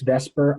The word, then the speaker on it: VSEPR: or by the way some people call this vesper i know it does not spell that way so i am a total nerd and i say these separate and i'm probably in the two percent of people that say it that way if you go to